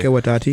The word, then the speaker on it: Taika Waititi: So other than like the Thor movies that are directed by, I can't pronounce that guy's name ever. Taiki Watati. Taiki Watati. Yeah, whatever. That guy. Taika Waititi.